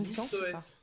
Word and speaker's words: Nixos: Donc moi je m'appelle Nixos. Comment ? Nixos avec des C comme ça se prononce.